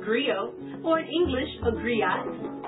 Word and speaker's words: griot: share that history with you agree oh it's pronounced griot or English agree on it's the West African